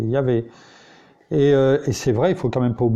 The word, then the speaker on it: Yahvé: Et donc pour eux, c'est pas Yahvé, mais eux ils disent, nous on le prononce comme les Juifs, Jéhovah. Mais non, c'est Yahvé.